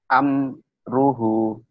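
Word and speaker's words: أمره: Jadi gak boleh gini Bapak bacanya. Amruhu, nggak boleh ditahan. Kenapa? Ini nanti hukum mimati ketemu ro, idhar, ya. Amruhu, ini dibaca apa adanya. Kalau dibaca, kalau nggak dibaca, amruh, ya. Amruhu, boleh mana-mana aja.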